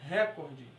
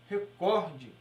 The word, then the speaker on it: recorde: correta das palavras nós temos que saber as pronúncias corretas nas palavras é um exemplo aqui a palavra recorde muitas pessoas falam recorde não é recorde e sim recorde pública muitas pessoas falam pública mas o certo